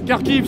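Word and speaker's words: Kharkiv: carkive c'estàd la ver carkive c'est la c'est la façon de prononcer kkov en fait il y a carkov et carkive carkive c'est la version ukrainienne non et kkov c'est la version russe bon vousve he c'est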